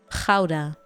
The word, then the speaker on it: Gouda: What's the actual pronunciation of Gouda? Gouda.